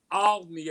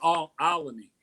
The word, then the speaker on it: Olney: Make sure I say it right. Olney Avenue. Be like Olney.